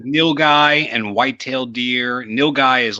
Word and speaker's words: nilgai: meat but uh wait it's actually called nilgai neil guy yeah it's spelled i